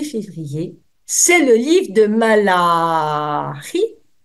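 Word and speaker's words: Malachie: le livre de malari parce que si vous dites Malachi il y a des personnes qui pourraient peut-être entendre autre chose que le nom propre de cet auteur propre c'est le cas de le dire donc s'il vous plaît si par hasard vous détectez une assonance un truc qui pourrait coincer n'oubliez pas que malaie se dit malarie c'est une gulturale en hébreu ça permet d'éviter toute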